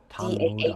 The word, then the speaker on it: Tang Soo Do: Tang Soo Do. S O O D O Tang Soo Do. Tang Soo Do. So in Tang Soo Do your How do How does the grading work there?